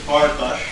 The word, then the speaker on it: Farkas: It's Farkas, correct? You did. Good. Oh, my dad would pronounce it Farkas, but close enough.